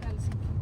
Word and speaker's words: Helsinki: Helsinki ah, perfect I am local I don't know